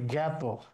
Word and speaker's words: জ্ঞাত: আকাশে আ ঠিক আছে, রাতে যে আ আছে আ ঠিক আছে, অনাথে যে আ আছে আ ঠিক আছে, কিন্তু এটা গাত না, এটার উচ্চারণ হচ্ছে জ্ঞাত।